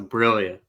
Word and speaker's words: Briglia: We've got Briglia. Did I say that right? You got like the second pronunciation. It's actually a silent G, so it's a Brillia.